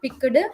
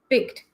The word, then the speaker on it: picked: you you make the sound as t rather than doing d so it will be sound it it it will be sounding better yes it is not picked it is picked so keep on practicing